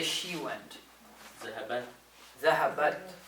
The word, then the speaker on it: ذهبت: Zahabat. Right? So you want to say zahabat with a sukun on the ta.